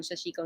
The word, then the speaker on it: sashiko: thread in white to do that and some sashiko needles. Very nice. I'm thinking ahead to Christmas things, and I have a nice little pocket guide to sashiko.